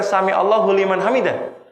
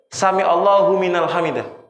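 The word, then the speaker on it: سمع الله لمن حمده: Bacanya bukan sami Allahu liman hamidah, sami Allahu minal hamidah, wali.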